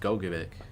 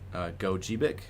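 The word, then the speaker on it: Gogebic: It was pronounced Gogibik, but I guess it's both, so it could be Gojibik and Gogibik, so either one.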